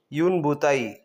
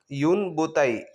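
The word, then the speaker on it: une bouteille: यूनबताई। यूनबताई। यहां पे मैंने आपके लिए प्रोनाउंस भी लिख दिया है।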